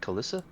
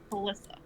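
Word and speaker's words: Klyssa: And look for how do you spell it? How do you say it? Kalissa. Kalissa.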